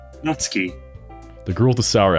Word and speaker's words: Natsuki: Because I was thinking like the way that Ari said Netsuki, I was like, oh, I'm pronouncing it wrong. The game pronounced it that way. I'm like, wait a second. Anyway, this is Natsuki, energetic as usual, small.